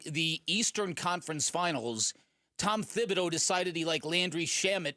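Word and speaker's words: Thibodeau: I know that there were complaints about Tom Fibido, Tibido, however you pronounce it. It is Thibido. It is Thibido. That's I' that's the way I've always pronounced it.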